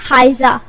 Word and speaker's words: حائزہ: بیل یا پھولوں کی ایک وادی۔ نام ہے حائزہ۔ حائزہ کے سپیلنگ ہے HAIZA۔ اس کے معنی ہے رویالٹی